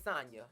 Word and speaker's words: Sanya: And I guess Sanya, Sanya. It's Sanya. Yeah. But her name spelled like Tanya.